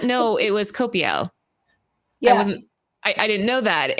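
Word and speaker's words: Coipel: It's Olivier Copiel.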